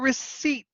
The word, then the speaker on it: receipt: Here's your receipt. But you know how a lot of people pronounce it? Receipt. Because English is crazy. So it's the P that is silent.